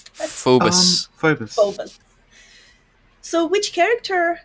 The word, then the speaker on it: Phobos: How do you pronounce that? Phobos.